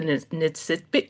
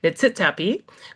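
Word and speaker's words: Niitsitapi: And I would like to recognize that I live and work in the traditional territories of the Nitsitpi. Oh my goodness, I almost had it. Nitsitapi, which is the Blackfoot Confederacy, including Siksika, Piikani,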